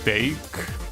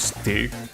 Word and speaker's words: steak: Oh, it's pronounced steak, not stick.